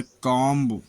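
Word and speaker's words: comb: B silent, M के बाद आया हुआ बी प्रायः साइलेंट रहता है, जैसे कॉम्ब, कंघी, लैम्ब, भेड़ का बच्चा, थंब, अंगूठा, टॉम्ब, मकबरा।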